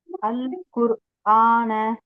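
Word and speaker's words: القرآن: அல்குர் ஆனு அல்குர் ஆனு இந்த இடத்துல ஏன் லாமை உச்சரிச்சீங்க இந்த இடத்துல லேம் ஏன் உச்சரிச்சீங்க இதுக்கு ஒரு சட்டம் படிச்சோம் ஞாபகம் இருக்கா தெரியல சிஸ்டர் ஷம்சியா கமரியா அப்படின்னு படிச்சோம் ஞாபகம் இருக்கா சன் லெட்டர் மூன் லெட்டர் அப்போ இது எந்த சட்டத்துக்கு கீழ வரும் மூணு லெட்டரா மாஷா அல்லாஹ் மூணு லெட்டரா இருக்குறதுனால நம்ம வந்து லாமை உச்சரிச்சு சொல்றோம் அல்குர் ஆனு ஆனு மாஷா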